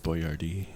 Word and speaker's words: Boyardee: it was Chef Boyardee, but it was spelled differently. Why would because they he was change the spelling? because he was Italian. It was spelled like correctly, but then they went phonetically because yeah.